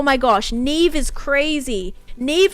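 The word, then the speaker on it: Niamh: gosh Neeve is crazy Neeve is spelled like so insanely you would never be like that is how you spell it yes n i a MH and it's pronounced Neeve dude gaic names are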